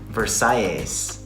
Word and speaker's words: Versailles: How do you pronounce the name of your restaurant? Okay, muy bien, muchas gracias. Versailles.